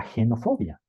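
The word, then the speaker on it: xenofobia: contarte Qué es la genofobia se escribe con x pero se pronuncia como si fuera G de gato se entiende Como el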